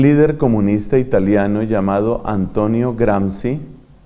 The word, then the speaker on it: Gramsci: A comienzos del siglo XX, un líder comunista italiano llamado Antonio Gramsci, Gramsci se escribe G-R-A-M-S-C-I, o Gramsci, tal vez pronunciarán, Antonio Gramsci se dio cuenta que la propuesta del marxismo se quedaba corta.